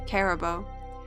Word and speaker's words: Caribou: By the way, that's how I pronounce it, Caribou.